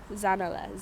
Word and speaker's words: Zanele: Zanele, Zanele. It's pronounced, you can pronounce it differently, but I like Zanele.